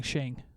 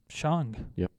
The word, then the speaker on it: Shang: exactly i i mean so many people have been saying shane right well yeah i mean that's sean how do they not